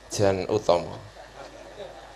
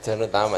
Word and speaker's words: Jan Utomo: Maka kita terima kasih sekali pada malam hari ini, kita diberi pencerahan oleh Mas Jan Utomo. Oh gitu ya, bacanya begitu ya, bukan Jan Utama.